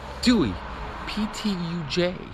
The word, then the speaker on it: Ptuj: to say the name of this town it's pronounced Dewey J uh and so uh neat little town anyway